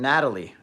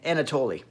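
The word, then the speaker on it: Anatoly: talked about um also Anatoli or an Natalie anat know it's Anatoli yeah I keep saying it wrong I believe it's anatol but you know anat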